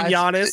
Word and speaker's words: Giannis: That's first name, Giannis.